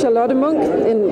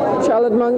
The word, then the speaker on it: Charlotte Munck: My name is Charlotte Munck. That is how it's said in Nordic, in Danish, where I'm from. Charlotte Munck, it would be internationally.